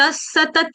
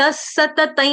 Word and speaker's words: सतत: सतत योगी सतत सतत सतत नहीं बोलेंगे सतत नहीं डबल त दोनों त पूरे पूरे सतत सतत सतत सतत सत त सतत स त सतत संतुष्ट सतत योगी गाइए संतुष्टी ठीक है।